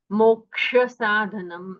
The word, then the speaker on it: मोक्षसाधनम्: दूसरी बात है, जो क्ष है उसका वर्ण विग्रह होता है ककार और मूर्धन्य शकार, तो उन दोनों का हमें श्रवण होना चाहिए जब हम क्ष कहते हैं। मोक्ष साधनम, ऐसा उच्चारण स्पष्ट तरह कीजिएगा।